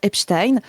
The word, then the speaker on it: Epstein: Moi je suis française et donc je prononce les suffixes à l'allemande comme pour Einstein, comme pour Frankenstein, merde, et c'est bon.